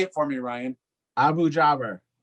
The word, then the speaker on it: Abu-Jaber: Abu Jaber. Abu Jaber.